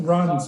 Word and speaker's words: Reims: Yeah, it's pronounced Reims, but it's spelled Reims.